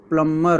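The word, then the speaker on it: plumber: जो यहां पर प्लंबर होता है इसमें बी साइलेंट होता है। तो इसको प्लमबर ऐसे करके पढ़ते हैं। तो यहां पर बी साइलेंट हो जाता है।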